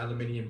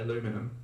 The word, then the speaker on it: aluminium: thought you were going to be in the aluminium camp on this. Why on earth would you think that? I don't know. I just thought. That's just what I thought. I know a lot of Americans say aluminum.